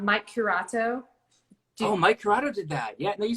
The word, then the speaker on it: Curato: And then I'm gonna say his name wrong. Mike Curato. Mike Corrado did that.